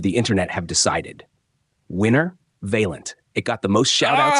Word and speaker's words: Vaillant: It was people roasting James for saying "Vaileant" with an extra I. The thread basically turned into a pronunciation lesson. It's Vaillant. Vaillant.